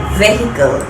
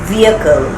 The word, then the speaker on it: vehicle: She mispronounced the word and said vehicle. The correct pronunciation is vehicle.